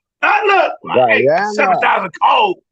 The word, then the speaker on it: Guyana: I didn't say it right. Did you hear what I said? Did you hear what I said? No. I said Guyana. You said Guyana. Yeah. Guyana. I'm cold. Woo. No, Guyana. Guyana. Yeah. Then I said it wrong, but you know I was going.